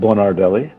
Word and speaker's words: Bonardelli: your last name so i don't misspell your pronunciation so my name is uh bernardelli i was born in montreal and i've actually